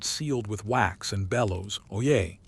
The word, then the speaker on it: Oyez: He clears his throat, holds up a parchment sealed with wax and bellows, "Oyez, oyez, oyez." 3 syllables that mean, simply listen up but carry the weight of royal decree.